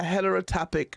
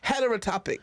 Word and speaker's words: heterotopic: in 2000 um a heterotopic pregnancy and what her het her pronounce it a herit atopic okay let me look it up let me it's it's called heterotopic right hetero like hetero yeah heterotopic pregnancy which